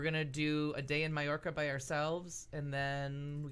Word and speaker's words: Mallorca: that you pronounced it Mallorca oh okay so there's a lot of people that that the L is silent apparently they'd say it wrong both of them well two L's become a y so yep I think